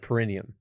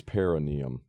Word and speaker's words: perineum: in there you got pronounced perum it's perenium I'm learning things today